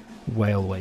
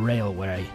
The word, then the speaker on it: Whale Way: going to Zs rust Whale Way Station which I keep thinking I'm saying it wrong but no Whale Way not Railway not Railway but anyway uh and